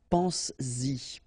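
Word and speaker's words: penses-y: to produce it orally, because you will pronounce it pense-y, pense-y, okay? Pense-y, all right? So you get to make this liaison.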